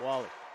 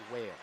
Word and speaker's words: Whale: Nice pickup here by Woo from Wall-E or Whale, pardon me. Phonetic pronunciation is Whale. That's why I didn't want to say that name the first time. I knew I might have mispronounced it.